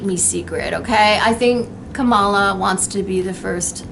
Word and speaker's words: Kamala: i mean i like am i pronouncing her first name right kamala kamala kamala like kama right that's she once explained how to pronounce her name when she was new on the scene like kama kamala you know i like